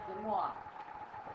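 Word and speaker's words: De Moivre: Demois.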